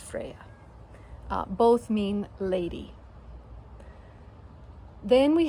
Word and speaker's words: Freya: And of course you're familiar with the goddess Freya, but I did differentiate it by keeping her name, the character's name, pronounced as Froya, and her namesake, the goddess Freya.